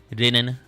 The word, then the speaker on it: Ren: stream of my name technically is supposed to be rein like you cannot you cannot try like pron pronounce it like the Japanese way just rein because it's technically supposed to be it's supposed to be linen but with an r just to make me